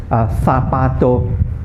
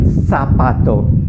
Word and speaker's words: zapato: Z in basically in Spain, Z has a very soft sound. For example, the word zapato. Zapato means a shoe, or zapatos. They pronounce it very, very softly. In other Latin American countries and in USA, it's pronounced like an S.